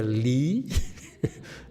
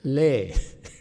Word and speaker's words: Lei: Don't call them Lee, Lei. Okay? Now regulate yourself. Don't be so lax. Okay? But we remind you, okay, so if people mispronounces the person next to her, just kind of slap her on the head and say, it's Lei.